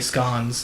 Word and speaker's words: scone: Smells like hot, fresh blueberry scones to me. So does Scones. Yeah, scones. That's the Scones. That's the correct pronunciation is scone, but yeah, I call them scones all the time.